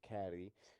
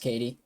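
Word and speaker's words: Caity: at the same time I thought they'd pronounce It Caddy and you know what Google translate pronounce it for me Katie yeah it's pronounced Katie unless they're one of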